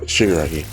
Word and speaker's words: Shigaraki: I think I must pronounce it. I think it's Shimura? Nope, I was right. Shigaraki.